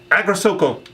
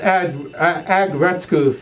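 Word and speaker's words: Aggretsuko: Best Dramatic Series or Short Work was Agrasoko. Ooh. I apologize for all the Japanese anime fans that I know and love for mispronouncing that. That's Agretsuko from Netflix, the original.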